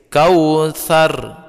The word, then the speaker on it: Kautsar: matikan rohnya roll sukun Huruf sebelumnya berbaris atas maka dia ditebalkan kau sarung kau sarung tidak boleh seperti ini kalau seperti ini bacanya tipis Kautsar Kautsar berikutnya pada ayat